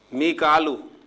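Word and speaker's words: ميكال: मीकालू, जिसे हम मिकाइल कहते हैं, तो कुरान मजीद में इसे मिकालू प्रोनाउंसिएशन के साथ जो है लिखा गया है और अदा किया गया है।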